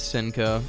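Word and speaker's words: Hsien-Ko: Capcom so Jetta Felicia he's Cinco Morrigan it's Cinco yeah the H is silent beautiful Joe would just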